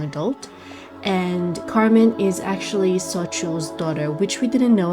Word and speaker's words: Xochitl: So Xochitl, I finally googled how to pronounce the name properly.